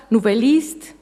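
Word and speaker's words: Nouvelliste: antropo y las deliora nube list novelista Plus romanzas con el o pronunciado a la francesa novelista era una revista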